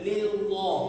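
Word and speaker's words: لله: memang tebal membacanya ya lam jalalah itu bila diikuti baris sebelum lam jalala itu adalah baris atas dan baris depan dia tebal bacanya tapi kalau di baris bawah gak boleh bacanya macam kalau baris bawah dia tipis tak boleh lillah enggak baris bawah sebelum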